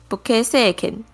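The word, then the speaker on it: 武家政権: 武家政权的日文念作 Bukei Seiken，它是日本历史上的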